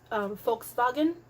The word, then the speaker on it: Volkswagen: brand, it's actually pronounced Volkswagen. The letter V is pronounced. The letter W is pronounced like a V, and the letter V is pronounced like an F.